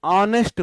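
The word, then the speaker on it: honest: जब भी एच के बाद ओ आता है तो एच साइलेंट होता है। इसे ऑनेस्ट बोलते हैं, आ।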